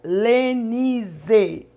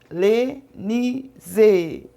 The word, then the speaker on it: Lenise: Cuidado quando você for pronunciar Lenise. Você tem que pronunciar bem forte para que você possa conseguir sintonizar esse canal. Porque tem vários nomes, né, assim, parecidos. Então, às vezes, você pede um canal e acaba caindo em outro canal. Mas sempre quando você for pronunciar o meu nome, você fala Missionária Lenise. Com Z, viu? Lenise.